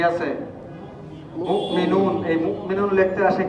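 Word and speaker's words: مؤمنون: মুমিনুন। এই মুমিনুন লিখতে আসে কি? হামজা। এই নিচে কি আছে? ওয়াও। উচ্চারণ হবে কোনটা? হামজা। এখানে হবে মিম হামজা পেশ মু, মিম জের মি, মুমিনুন পেশ নু, মুমিনুন উচ্চারণ।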